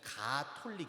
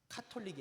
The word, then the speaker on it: 가톨릭: 천주교 용어 집의 정식은 가톨릭 있니다 카톨릭이 아니라 가톨릭 그래서 저는 이제 의문이에요